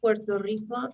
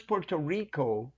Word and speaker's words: Puerto Rico: I'm planning to go to Puerto Rico next year.